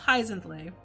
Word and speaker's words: Hyzenthlay: I'll do this so hyacinth hyacinth that's pronounced hyzenthlay and hyzenthlay is actually a kaizen place our terrible saying that sometimes hyzenthlay is actually a character from a book and a movie that I saw when